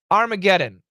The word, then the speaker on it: Armageddon: short and use AI Armageddon is the a a short o yeah it's a the first a it's a short o plus r that's right Armageddon